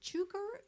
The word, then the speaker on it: Cukor: Is it Cukor? Cukor? How do you pronounce George Cukor. Cooker. George Cooker.